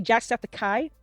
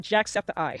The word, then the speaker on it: Jacksepticeye: I always say Jackseptikai, not Jacksepticeye. I always say it wrong, but I feel like it's the Septikai part sounds more it flows better than Septiceye.